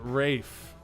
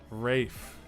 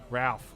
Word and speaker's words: Ralph: 11 points for taco 10 for Ryan it's pronounced Rafe Rafe Rafe whose rates Ralph Oh Ralph Fiennes whatever yeah I call him